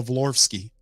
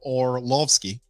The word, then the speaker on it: Orlovsky: other day about Dana vlorsky or lofsky or lofsky danolovsky people was kind of clowning me how I pronounced the man's name is oralovsky okay Daniel orlovsky all right so Dan